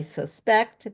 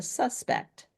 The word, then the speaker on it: suspect: I suspect they caught the suspect. And say, okay, suspect is the person. So noun it's the first syllable. Okay. So then verb it's the second syll and then you can